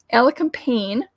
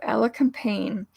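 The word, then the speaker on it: elecampane: remind me of like eyelashes and ella companion ella campaign is very tall so right now it's probably five feet tall and it's spelled e-l-e-c-a-m-p-a-n-e so ella campaign it's latin name the scientific name is inula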